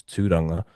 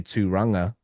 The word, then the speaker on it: Tūranga: So like my actual full name is Tūranga.